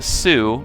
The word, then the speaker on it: Sioux: I know that's a strange-looking word there, S-I-O-U-X. If you had to guess how that was pronounced, you probably wouldn't have guessed Sioux, but that is how you pronounce that. The X is silent.